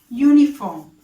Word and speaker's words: uniform: Uniform. A uniform. The pronunciation or the sound is ya. So it is uniform.